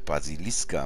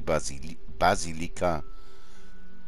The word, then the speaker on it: Basilika: Achso, ich habe Basiliska. Basilika. Gnostra. Was kann über die Basilika. Sag mal, Basilika. Basilika. So, jetzt habe ich es richtig ausgesprochen.